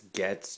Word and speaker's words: Goetze: it's gets chocolate caramel creams today on the candy aisle